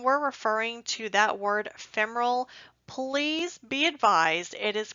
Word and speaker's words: femoral: and please when we're referring to that word femoral please be advised it is pronounced femoral not femoral you will have surgeons jump on you if